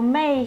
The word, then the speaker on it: 昧: not what it mean so it's same pronunciation with 妹 but it's different like characters oh yeah so 昧 here do you see